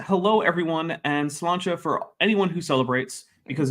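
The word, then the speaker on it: sláinte: nice um and yeah I'm going with slancha and not the actual Irish pronunciation because um I don't know how to falize all of those sounds effectively so I'm not gonna try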